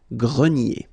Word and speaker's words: grenier: Remember this R here at the end will give you the sound E, nier, grenier.